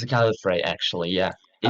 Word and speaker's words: Gallifrey: It's a Gallifrey, actually, yeah.